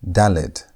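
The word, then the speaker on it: dalet: Our fourth letter is dallet. Dallet and Dallet has a sound of D. The D sound. D as in dog.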